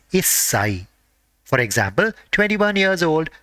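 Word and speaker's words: 一歳: Even though 1 is ichi for 1 year old, and whenever the age is ending with 1, the part corresponding to 1 has to be pronounced as issai.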